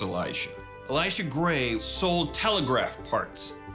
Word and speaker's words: Elisha: Now, there's a dude whose name is Elisha, pronounced Elisha.